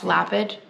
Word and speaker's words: Lapid: I said, that's Lapid, Israel. I hope that's how you say it. I hope it's not Lapid or... Anyways, that's how I say it. L-A-P-I-D. Made in Israel, Lapid.